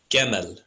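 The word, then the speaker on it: גימל: It's actually pronounced Gemel.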